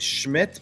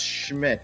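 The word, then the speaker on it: Szmyt: Yeah, so his name is pronounced Schmidt, but there's no S, there's no CH. Yeah, he's Polish. And it's pronounced Schmidt, but it's SMIDT.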